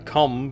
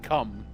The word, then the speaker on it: comb: Mind you, a comb of the type you're used to would just get lost in the tangle, like it's not. Pronounced comb. Comb. Not a cum.